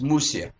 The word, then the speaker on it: Mushka: And at the same time, Mushkah represents a name which is of the lower language, not Hebrew, not even Yiddish, because it is always pronounced Musia.